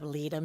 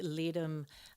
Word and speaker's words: Ledum: Well, just look up Leadum, Ledum.